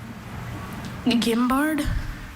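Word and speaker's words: guimbarde: Gimbard. Gimbard. Gambard. Gimbard. G I M B A R D. Gimard. Gimbard is spelled gu i m b a r d.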